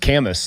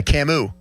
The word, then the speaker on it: Camus: I've always thought um Camu was just pronounced Camas. Like oh yeah, Albert Camas. Yeah, Camu.